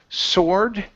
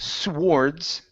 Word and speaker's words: sword: is the word word sword okay so instead of Swords okay uh we kind of jump over that W and say sore swords